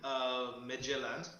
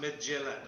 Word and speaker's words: Midtjylland: The Danish team, Midtjylland, I think.